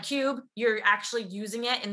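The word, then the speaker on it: Qube: a brand new app called Cube, and that's spelled with a Q, so Q-U-B-E. And what this is it's a digital cash envelope app.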